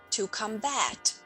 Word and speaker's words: combat: evil please note that we use the same word as a verb as well only pronunciation is different we say to combat to combat means to fight or